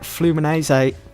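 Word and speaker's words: Fluminense: list has gone on loan to Brazilian outfit flumino say that's how you pronounce them so it looks like we're joined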